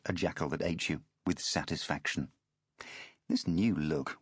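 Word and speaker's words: Ajatashatru: thought Ajit Chatru pronounced a jackal that ate you with satisfaction.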